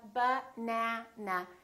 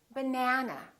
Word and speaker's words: banana: For example, if I say the word banana, banana has 3 syllables. Let's take a look. So we have banana. This second syllable is stressed. That means this vowel is going to be much longer. Repeat, banana, banana. So the a is going to be prolonged.